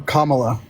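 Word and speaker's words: Kamala: time okay so why are you voting for kamla thank you for pronouncing her name right baby right so I'm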